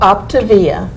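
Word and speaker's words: Optavia: camera and tell them the name because i've mispronounced it it's called optivia yeah o p t a v i a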